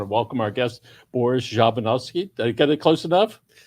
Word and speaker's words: Zhadanovskiy: news i want to welcome our guest boris javanowski to get it close enough pronounce it for us you've had a lot of practice in the last couple of times but it's jaronovsky there you go all right so boris you've